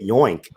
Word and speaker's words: yoink: Looks like officially on the Startup Weekend Saturday night party stream, we have coined it yoink. It's like oink, but with a Y.